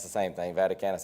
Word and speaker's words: Vaticanus: it's the same thing vaticanus I think is a Latin pronunciation of that but some people will call it vaticanus some people call it